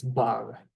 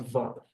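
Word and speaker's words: בר: With the gash, because it's bar, so not var.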